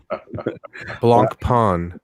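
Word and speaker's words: Blancpain: is an archie-free zone blanc pawn blanc they're saying that the the the c is not pronounced so it would be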